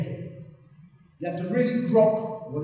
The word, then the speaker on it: grok: But a pronunciation would probably go something like this. Grok. You can give it a go. You've looked that other one that Jeff told you, so try grok. Grok. Grok. Yeah, there's no vowel sound in it.